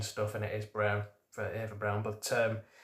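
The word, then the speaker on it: Braun: It's it can be comparative with um the uh you know Ava Ava Brawn thing where actually actually her last name was pronounced Brown according to my dad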